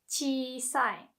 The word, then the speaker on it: 小さい: So when there is another E, just the vowel E, you still pronounce it like as if it's a part of chi. So not chi, chi sai.